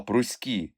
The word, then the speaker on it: пруські: дати пояснення й тут слова пруські та міські мають наголос на останньому складі а слово псиці на першому Різдво 1896 року дівча